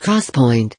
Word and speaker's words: XPoint: state drives this new 3 Deeks point memory pronounced cross point is already in the